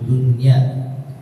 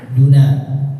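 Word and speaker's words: دنيا: dari Ibnu Qutaibah wabilqri bacanya dengan qasar pendek minhairi tanwinin tanpa ditanwinbu dunya atau duna boleh juga tidak boleh ditanwinkan dunian itu enggak boleh.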